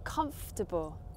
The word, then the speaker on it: comfortable: Another word where we see the word table, but don't actually say the word table, is this one. How do you pronounce this word? Correct, it's comfortable.